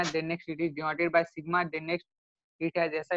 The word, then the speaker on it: sigma: Stress का साइन, okay, it is denoted by सिग्मा।